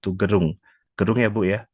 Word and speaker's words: Gerung: Beliau adalah guru kimia atau guru IPA, guru terapan projek IPAS yang bertugas di SMK Negeri 1 Gerung. Gerung ya, Bu ya?